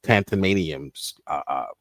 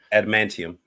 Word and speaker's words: Adamantium: We're taking his tantamaniums. What was Adamantium. Tantamanium. How do you say that? Adamantium.